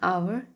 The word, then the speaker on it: hour: We say an hour, an honest man, because H is silent.